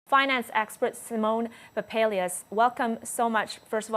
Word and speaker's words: Simeon Papailias: I just want to make sure I'm pronouncing your name correctly. It's Simeon Papailias. Thank you, and it's a pleasure having you. Simeon Papailias.